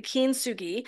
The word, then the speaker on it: kintsugi: bit about it so kugi kin sui I actually was not pronouncing it correctly kin Sugi is the Japanese art of golden repair and in essence what it is